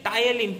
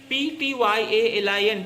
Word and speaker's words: ptyalin: Ptyalin, P is silent, P-T-Y-A-L-I-N, ptyalin, which converts the starch into disaccharides, the maltose.